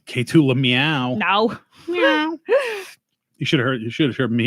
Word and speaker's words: Lemieux: K2 Lemieux. K2 Lemieux. No. Meow.